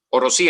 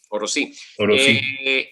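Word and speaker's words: Orosí: Pero todavía falta por investigar cuándo fue la última erupción del volcán Orosi. Orosi en realidad, porque lleva acento en la I, ¿no? Orosi.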